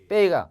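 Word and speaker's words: 备: 그래서 배인데 사성이니까 빼이가 바에 해당되는 비읍이죠. 그래서 빼이가 되는데 사성이 해봐. 빼이. 자, 사성이니까 빼이, 솔에서 쑥 떨어집니다.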